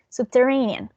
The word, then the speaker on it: subterranean: in the last one we have a a primary stress in this sea level and a secondary stress in the first one subterranean and the sentence i